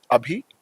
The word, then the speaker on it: Abhi: So Tabby is a group company which has under it Abhi. It's pronounced as A B H E E.